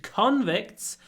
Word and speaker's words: convict: 19th century many British convicts were sent to Australia the convicts were convicted so convict stress on the a convicts were convicted uh stress on the air so the stress moves number 205 he mounted